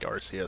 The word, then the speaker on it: Arceus: challenge in Pokemon Legends AR yes I'll say it correctly for once look the Japanese pronunciation of it sounds more like arus so uh that's my justification for saying it that way do I need further